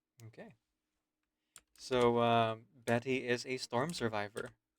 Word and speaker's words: Bette: The pronunciation. Going to take a while. Betty.